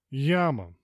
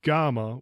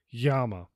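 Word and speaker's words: Γάμμα: correct pronunciation is Veta Yama typically we'll say GMA with a very hard G but it's actually a very light G that sounds more like a y Yama Fela this is almost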